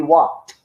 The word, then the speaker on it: walked: The ED you did not pronounce. You have to say, we walked.